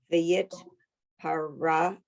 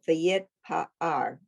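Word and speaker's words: וְיִתְפָּאַר: v'yitparar. Vayit pa'ar. Oh, v'yitpa'ar. Right. The accent on the wrong syllable.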